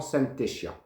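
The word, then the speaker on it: Zantedeschia: C'est le genre d'inflorescence qu'on retrouve chez les arômes, les anthuriums ou les Synthedeschia, qu'on prononce souvent Syntheschia.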